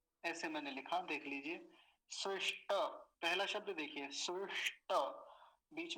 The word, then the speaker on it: स्विष्ट: मूर्धन्य शकार को तो बिल्कुल नहीं भूलना नहीं तो यही बहुत गलतियां होती हैं। स्विष्ट, और टकार पूरा है, नहीं तो कुछ लोग पता है क्या उच्चारण करते हैं, स्विष्ट बोलते हैं, स्विष्ट, स्विष्ट नहीं, स्विष्ट, टकार को पूरा रखेंगे, स्विष्ट। हो गया पहला शब्द।